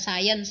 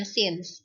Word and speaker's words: since: di situ ada bacaannya remember bacanya bukan science ya dibacanya Sins kalau since artinya sejak